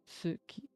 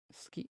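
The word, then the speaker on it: 好き: As you can hear with ski, you do not pronounce it as suki. You can hear some people pronounce it as suki, but you will, if you want to pronounce it properly, it's ski. Even in this, you barely hear the ski, ski. You should just say ski and skip the u entirely.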